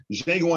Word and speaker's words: Django: Come back, because Django Unchained, the D is silent, is representing.